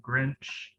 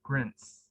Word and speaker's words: Grinch: So yeah, I had a hard time saying Grinch, and I pronounced it as Grints.